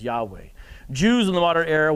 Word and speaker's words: Yahweh: something called the tetragrammaton it's four hebrew consonants that in english would transliterate to yhwh it's almost like a breath yahweh those are probably most likely the vowels that should be provided most likely pronounce it as yahweh jews in the modern